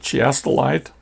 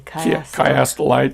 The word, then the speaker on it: chiastolite: Is it chiastolite? Yeah, it's with a hard K in the beginning. Chiastolite.